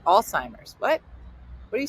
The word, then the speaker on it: Alzheimer's: before you realized that it wasn't called old timers disease, like my grandmom said? She got the old timers. You're like, that's not. I don't think that's not at all how it's spelled. No, it is. It's the old timers. No, it's not. It's Alzheimer's.